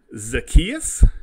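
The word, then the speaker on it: Zaccheaus: Now, we do have Blake and Gage and Zacchaeus is how you pronounce this kid's name.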